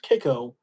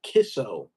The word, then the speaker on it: Kicco: Island Cattle Company, um, which again is spelled as Kicco, which would make one think it's spelled or think it's pronounced Kiko when it's actually, well, yeah, it's pronounced Kiko, but it's pronounced Kisso.